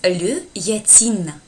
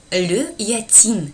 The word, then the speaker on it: yachting: Здесь очень такое странное слово, потому что здесь, во-первых, у нас пишется здесь буква Ш, да, но она не произносится. И вот как бы это вот яхтинг, да, по-другому. Le yachting.